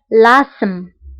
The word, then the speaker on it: l'asthme: فهنا تي اش لا تنطق نقول asthme l'asthme. d'accord تي اش لا تنطق l'asthme.